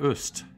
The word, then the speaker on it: Ust: Cochran, Casey Moriarty, and Johanna Ust, if you're pronouncing it the German way, for upping their pledges.